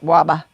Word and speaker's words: Weber: His last name was Weber, but we pronounced it Waba.